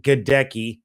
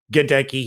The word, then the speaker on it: Goedeke: with second round picks logan hall and luke goddecki yes gedecki he does speak about the pronunciation of his last name logan hall the defensive lineman out of houston godeki the guard out of central michigan and former